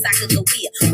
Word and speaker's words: Sacagawea: But y'all know me, Sacagawea, with a hard G.